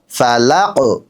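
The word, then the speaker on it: الفلق: ফালাক।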